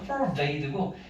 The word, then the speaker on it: forbade: 대신 발음은 달라서 이건 forbade고 이건 for that이거든. that, for that, forbade.